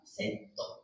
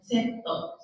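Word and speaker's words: セット: can say double burger setto. Setto. Setto is also from English vocabulary. Set. S-E-T. Set. But Japanese accent is more like setto. Setto. To, we strongly pronounce to. T-O, to.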